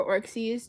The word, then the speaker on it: orxes: It's very common for orcsies to have fake piercings normally, you know, like magnet piercings and stuff. No, that's not how it's spelled. It's spelled orxes. Orcsies.